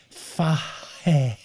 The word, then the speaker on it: Fahey: Okay, I'll do this phonetically for you. Yeah. It's Fahey.